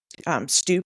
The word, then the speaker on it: stoop: It just becomes like we're left with stoop, which actually should be pronounced stope, because the double vowel is a long sound.